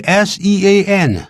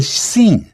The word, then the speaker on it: Sean: Sean Milligan Assistant Delivery Office Manager，这个 S-E-A-N 很多人会念成 Sean，不对啊，这是它的